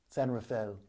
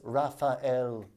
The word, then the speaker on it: San Rafael: Rafael they call it San Rafael this is how you know you're privileged you drop an entire syllable from a saint's name it's Rafael people San Rafael and